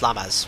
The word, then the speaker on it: LIMAS: Not Limes, Lamas. That's how I need to pronounce it.